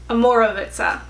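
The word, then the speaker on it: Omorovicza: How do you pronounce this again? Amorovica.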